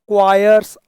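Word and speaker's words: choirs: To mend the क्वायर्स above. इसका pronunciation ध्यान रखना, क्वायर्स, ये क्वायर्स है, क्वायर्स।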